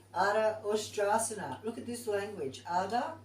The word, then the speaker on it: Ardha Ustrasana: Is it an ush or is it a s? Well, it's pronounced sh. So let's go with that. I've always said it Ardha Ustrasana for years without the sh.